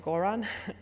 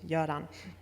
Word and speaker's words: Göran: Quite funnily, many think he's from the Balkans because of his first name, which many think is pronounced Goran, but he's actually from Sweden. His name is pronounced Göran.